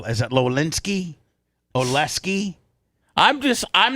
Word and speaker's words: Oleksy: Oleksy Oleksy O L E K S Y All